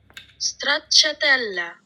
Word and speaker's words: Stracciatella: And for dessert, I'm having this Italian gelato in the flavor Stracciatella, Italian. and I had to look up how to pronounce this. And surprisingly, this is one of my favorite flavors. Stracciatella, Italian.